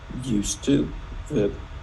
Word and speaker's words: used to: in Cali for example when we pronounce used to the D is silent and E is silent